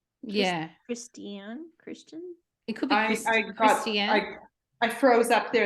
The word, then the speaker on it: Kristian: it's Christian but it's spelled k-r-i-s-t-i-a-n would you pronounce that Christian yeah Christian Christian I froze up there in the middle